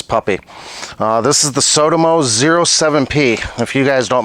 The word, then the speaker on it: Sotomo: It is pronounced Sodimo.